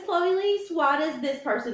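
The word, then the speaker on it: Chloe Liese: Like, if I know that her name is Chloe Lise, why does this person not know her name is Chloe Lise?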